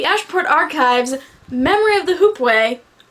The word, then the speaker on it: hoopoe: Archives' Memory of the Hoopoe. I think I pronounced that right. The sad thing is I've heard the author say the name a couple times. But it's even phonetically said in the book.